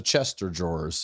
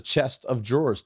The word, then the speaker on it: chest of drawers: ] i don't know i thought it was a chester drawers for those chester doors what is it it's a chest of drawers think about it it's a chest that has drawers in it can i tell